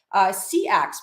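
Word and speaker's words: seax: Sea axe, pronounced sea axe, is an old English word for an Anglo-Saxon short sword.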